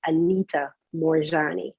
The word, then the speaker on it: Anita Moorjani: And the author is Anita Moorjani. So Anita, Moorjani.